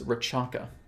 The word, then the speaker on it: Rechaka: This is something that I'll probably be promoting a lot more than HRV, is what's known as Rachaka. And that is spelled Rechaka, the Rachaka breath.